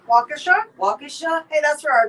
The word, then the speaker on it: Waukesha: this but it's a wisconsin uh name it's waukeesha waukesha waukesha hey that's where our daughter went to